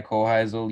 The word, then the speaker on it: Hoheisel: your hunting yeah so my name is uh kohizel you did get the pronunciation right so yeah congrats on that um